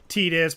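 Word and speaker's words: Tidus: I know his actual pronunciation is Tetus, but I call him Titus because everyone calls him Titus.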